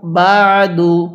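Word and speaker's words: بعد: এরপরে বা আইন জবর বা, দাল পেশ দু, বা দু। কীভাবে পড়ব? বা দু। এই আইনটা পড়ার সময় গলার মধ্যে হালকা চাপ দিয়ে পড়লে আইনটা সহি শুদ্ধ উচ্চারণ হবে।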